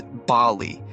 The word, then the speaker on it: Bali: the correct pronunciation is Bali with an emphasis on the first syllable bali's unique climate offers